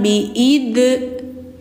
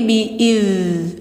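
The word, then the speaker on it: بِإِذْنِ: Jadi jangan biid, tapi biidz rakhawah sifatnya mengalir. Ee suaranya mengalir. Biid nillah. Ini lidah ujungnya di gigi atas. iz kayak kayak kayak digigit tapi enggak ditekan hanya menempel doang si gigi ke lidah biidz fazamuhum biid nillah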